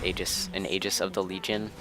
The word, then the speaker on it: Aegis: I believe the next item I go with, normally I would buy an Aegis, or is anything it's pronounced Aegis, an Aegis of the Legion, which would go